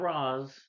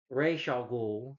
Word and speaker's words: Ra's al Ghul: It was so cool to see Talia al Ghul, who again, as we should know, it's not Roz, Ra's al Ghul.